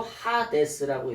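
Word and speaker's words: ᾅδης: 그래서 하데스라고 읽어요.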